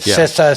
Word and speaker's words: CISA: MITER and they've seen so I pronounce it SISA so CISA you know the government government agency.